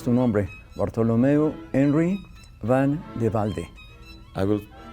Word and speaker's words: Bartholomeus Henri van de Velde: Bartholomeus Henri van de Velde. I will correct you a little bit because it's Okay. almost perfect. Oh, yes? Bartholomeus Henri van de Velde.